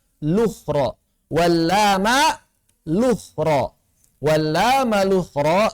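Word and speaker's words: الأخرى: Wala malukhra, cara bacanya lukhra.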